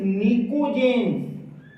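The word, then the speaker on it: pnictogens: इस नाइट्रोजन family को हम निकोजेन्स भी कहते हैं, PNIKOGENS, निकोजेन्स। पी साइलेंट हियर, ध्यान दीजिए, इट इज निकोजेन्स।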